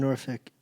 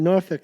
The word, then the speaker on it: Norfolk: Norfolk, yeah. Norfolk. Actually, if you're really Southern, you say Norfolk.